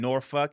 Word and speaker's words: Norfolk: And then, yeah, if you know Virginia, Portsmouth, Newport News, it's pronounced Suffolk and Norfolk.